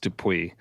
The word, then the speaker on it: Dupuis: It's _ and then my last name, which is pronounced Dupuis, but not everybody pronounces it probably when they see it, a French Canadian name, which will probably be in the show notes.